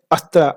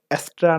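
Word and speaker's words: Astra: Basically इसका pronunciation कुछ ऐसा है, अस्त्रा। आपने नाम सुना ना, अस्त्रा? जैसे कि अस्त्र मतलब वेपन, ठीक है? तो यही इस थीम का नाम है एक्चुअल। तो लेकिन लोग इसको प्रोनाउंस करते हैं एस्ट्रा नाम से।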